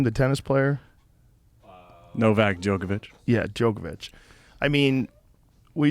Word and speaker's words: Novak Djokovic: Novak Djokovic.